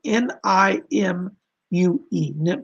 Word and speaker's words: Nimue: It's spelled Nimue, but it's pronounced Nimue. It's an ancient Welsh name.